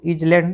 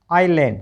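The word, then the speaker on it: island: आई एस एल ए एन डी इसको इज लैंड नहीं बोलना। आइलैंड क्योंकि आई तो साइलेंट एस तो साइलेंट है। ठीक है? क्योंकि आई और एल के बीच में जब भी एस आता है तो एस का उच्चारण नहीं किया जाता है।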